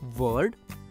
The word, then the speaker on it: word: उसी प्रकार WORD का उच्चारण होगा वर्ड।